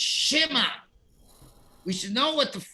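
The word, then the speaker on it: Shema: the two dots which is so therefore you pronounce it shi mos not schmos schmos is incorrect just like shma is incorrect it's shima we should know what the second book of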